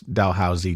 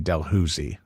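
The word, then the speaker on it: Dalhousie: but not serious because you're in Ottawa they pronounce delh Housey Del huzi so how you know one of the great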